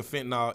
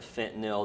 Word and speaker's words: fentanyl: addicted to, I guess like pills basically, and then they have the fentanyl in the pills.